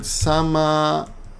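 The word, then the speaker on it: 様々: Remember, the second kanji's pronunciation changes a little bit because it's dependent on the previous kanji. But it's, in this case, it's the same kanji, right? But the sound changes.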